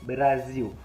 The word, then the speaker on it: Brasil: Donc, ça veut dire que dans le portugais brésilien, si par exemple il parle du Brésil, il a dit Brasil. Il prononce L à la fin comme OU.